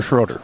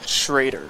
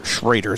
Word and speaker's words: Schroeder: How do you say his last name? Is it Trader or Schroeder? Shraider. Shraider.